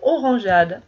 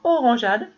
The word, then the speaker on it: orangeade: Donc si je veux entendre orangeade, je vais intercaler un E ici. Pour que le G chante J.